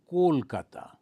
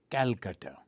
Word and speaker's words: Kolkata: Now the Calcutta is an old spelling. Now it has become Kolkata, K-O. Previously, with the British pronunciation, Calcutta.